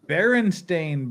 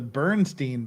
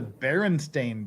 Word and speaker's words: Berenstain: Leafy Fifi food, it's the Berenstain Bears. It's not that Mandela effect where everybody remembers it's the Bernstein Bears. It's the Berenstain Bears. It's not spelled that way, but it's pronounced that way.